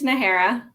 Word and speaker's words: Najera: last name I want to make sure I'm pronouncing it correctly it's it's nahara and the hair okay so I completely butchered